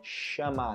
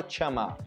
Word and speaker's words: chamar: que chamar uma pessoa tenho que chamar chamar não chamar a gente não fala teamar ok lembra do inglês